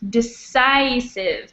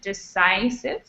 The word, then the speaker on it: decisive: par and this one this word here is with a long ey sound so it's decisive decisive this word here is